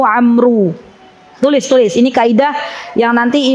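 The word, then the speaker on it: عمرو: tulisan di Arab ya kalau ibu-ibu baca Abdullah Ibnu Umar itu habis ro enggak ada wawya tapi kalau habis ro ada w maka dibacanya Abdullah Ibnu Amru tulisulis ini kaidah yang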